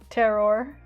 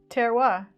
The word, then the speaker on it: terroir: gin tasting all day mirafora says terroir according to this French wine dude on YouTube good to know apparently